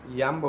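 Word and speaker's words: Jumbo: তো ডাচ ভাষায় যে এর উচ্চারণ ইও এর মতো হয়, সে কারণে আমি জাম্বোকে ইয়াম্বো উচ্চারণ করছি।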